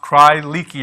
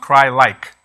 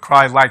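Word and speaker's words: Crye-Leike: it's not pronounced pronounced cry leaky or cry-likey it's actually pronounced cry-like like cry like a baby and they're very popular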